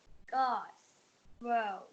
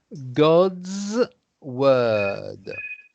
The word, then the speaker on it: God's word: God's world. So you need to pronounce this God's word.